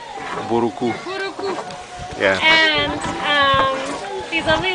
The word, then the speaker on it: Mbouroukou: Mbouroukou. Am I pronouncing it right? Mbouroukou.